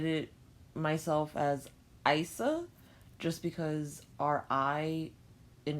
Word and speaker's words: Isa: next rune on the list is it is pronounced Issa but I've always known it and said it myself as eisah just because our I in English especially in